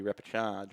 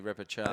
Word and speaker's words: repechage: And why the word repechage doesn't have an R in it is beyond me. Yeah, it's chage, C-H-A-G-E, is it not? Yes, but I think the way we pronounce it somehow includes an extra R or 2 generally. We could, the proper Australian way would be repechage, wouldn't it? But, a nasally repechage.